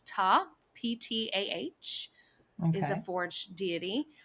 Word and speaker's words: Ptah: It's pronounced Ta, Ptah, is a Okay.